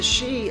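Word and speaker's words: Sidhe: and as far as the she are concerned which of course is spelled s-i-d-h-e because it's Irish Celtic Irish um as far as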